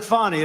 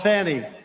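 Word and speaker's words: Fani: But many, many people, their lives have been destroyed because of Fonnie, F-A-N-I, Fonnie. You have to pronounce it Fonnie. It's called Fanny. You have to pronounce Fonnie.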